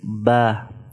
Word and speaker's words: ب: When inner parts of the 2 lips are touching each other, ba is pronounced. Ba, ba, ba. So this is ba. Also, it should be prolonged 1 to 2 seconds.